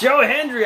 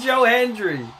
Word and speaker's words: Hendry: And Randy I Oh man, it's Joe Henry. I said Joe Henry earlier, too. It's freaking Joe Hendry.